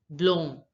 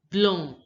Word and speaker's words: blanc: White is pronounced as blanc. Blanc. Notice that the AN sound in French is the on sound.